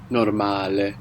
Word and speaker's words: normale: So we have the O giving us an O sound, like in orange, and the A is pronounced A.